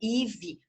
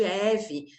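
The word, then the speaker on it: Evie: Ou, por exemplo, imagina eu que chamo Ive, e meu nome se escreve E-V-I-E, e a pessoa me chama de Eve, né?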